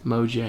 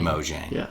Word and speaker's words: Mojang: I always do dude Mojang moang Mojang thank you thank I just always like my brain is like oh the Jay is silent right for whatever reason